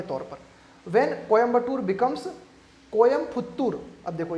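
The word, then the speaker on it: கோயம்புத்தூர்: कोयम्बटूर, उसको शुद्ध क्या बोला जाना चाहिए? तमिल भाषा में उसको शुद्ध बोला जाना चाहिए कोयम्पुत्तूर, है ना। तो कोयम्पुत्तूर बोलना चाहना चाहिए, तो कोयम्बटूर की स्पेलिंग हटा के कोयम्पुत्तूर करो।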